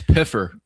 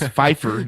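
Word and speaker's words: Pfeiffer: called in and said you'd pronounce Pyer wrong. It's Piffer. I thought it was Feifer, you know, like Michelle Fefeifer, but he confirmed that one day when we did the interviews, it was Pyer.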